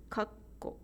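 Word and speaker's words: かっこ: If there is a small tsu letter in between ka and ko, then it will read kakko in 3 beats, kakko.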